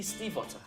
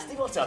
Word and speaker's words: Stiefvater: We're at YALC with Maggie Stiefvater. I've said it right. Well done. Stiefvater, nailed it.